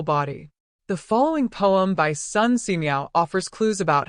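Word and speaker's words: Xu: The 6 sounds are Su, pronounced like sh with a deep sigh, which is associated with the liver.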